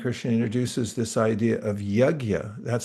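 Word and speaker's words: yajña: Um another comes in the third chapter of the Bhagavad Gita and Krishna introduces this idea of yagya. That's spelled y a j n with a little squiggle over it.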